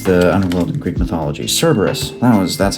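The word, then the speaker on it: Cerberus: Cberus, that was that's how you pronounce his name.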